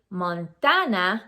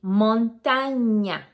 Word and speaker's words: montaña: are not aware that the N with the little line on top, la tilde, has a different sound. It's ñ. Say it, ñ, ñ. So we are not supposed to say Montana, we say montaña.